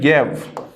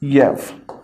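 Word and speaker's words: ewe: तो यहां पर जो है आप हमारे पास वर्ड आता है येव। The pronunciation of this word is येव, और येव जो है यह से शुरू हो रहा है तो इसके साथ क्या लगेगा?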